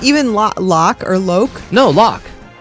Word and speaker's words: Locke: No, Locke. It's Locke. You cannot say Loke. You're loco if There's you say an Loke. E at the end, and Locke is spelled L-O-C-K, not L-O-C-K-E.